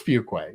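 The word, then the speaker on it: Farquhar: I'm pretty sure it was Fuquay. Right? It was Fuquay, yes, absolutely. Yeah, that's what I said, EP.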